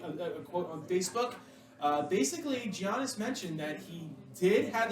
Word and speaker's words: Giannis: Yeah, and by the way, it's pronounced Giannis.